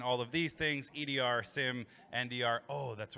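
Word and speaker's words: SIEM: All right, we were going to ask them who pronounces it seam. Who says seam? Raise your hand. Raise your hand if you're wrong.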